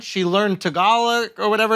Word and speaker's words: Tagalog: the accent she learned Tagalog or whatever it's called how do you want to up my Tagalog Tagalog it's tag along tag along yes and this is